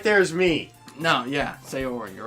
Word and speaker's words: Sayori: It's Sayori, Yes.